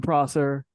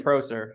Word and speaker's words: Prosser: hello we got eaten Prosser say hello is that how you pronounce your last name that is how you pronounce it hi everyone oh I've been saying Pro sir I need to change